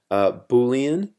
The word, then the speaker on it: Boolean: Boolean, that's how you say it just stores true or false.